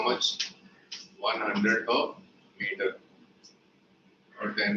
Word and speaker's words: mu: Okay, the symbol is mu. M-E-W, mu. Or MU. Okay, but MU you may read as mu or Mumbai may just MU there. So this is how it is pronounced.